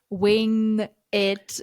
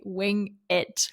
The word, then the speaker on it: wing it: a lot because, again, it has this like ing, and also you have to connect it to it. So sometimes I would say it's something like wing it. It's a hard word combination for me.